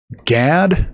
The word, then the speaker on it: Gad: Uh gad typically pronounced may sound like god uh because it's g a w uh in the phonetics.